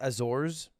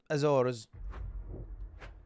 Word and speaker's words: Azores: It's pronounced Azores. Azores. Azores.